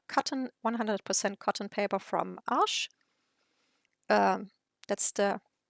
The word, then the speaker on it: Arches: test on a cotton 100% cotton paper from Ash um that's the correct way to pronounce uh most people I know um say arches to the company but I I really have